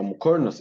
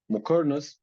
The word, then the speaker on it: muqarnas: And what is a muqarnas as well? So muqarnas in Arabic, it's pronounced Muqarnas, and in Persian, it's pronounced Muqarnas.